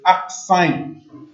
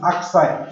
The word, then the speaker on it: arcsine: the power of -1, which is pronounced as arcsine. Okay, this is how you spell it, arcsine. Yeah, it's A-R-C. Okay, it's pronounced as arcsine, so it becomes arcsine.